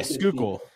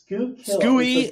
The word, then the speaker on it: Schuylkill: Yeah, Schuylkill. Yes. S-K-U-Y. It's Schuylkill. Silent H.